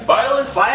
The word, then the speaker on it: Byleth: Is that how I'm pronouncing it? Yes, Byleth in Smash.